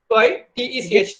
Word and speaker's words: LaTeX: No, it's not latex. It is latex. Bucket one door. LATECH. That's the pronunciation we should do it.